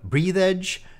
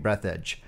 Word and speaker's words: Breathedge: I occasionally pronounce the title of the game Breathedge during the stream because I initially parsed the name wrong, but I'm pretty sure it's supposed to be Breathedge.